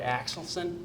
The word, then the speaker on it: Axelson: Over here to my far right is junior softball pitcher Margaret Axelson. Did I pronounce that right?